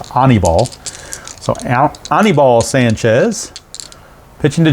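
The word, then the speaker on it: Aníbal: birdie facing anabol sanchez honeyball sanchez i think it's how it's actually pronounced i think his first name is pronounced honeyball so anibal sanchez pitching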